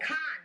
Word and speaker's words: Khan: Khan. I did pronounce it properly.